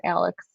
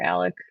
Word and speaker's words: Alec: You could have like a highpitched southern accent off between her and Alex or Alec is how you pronounce it in the south.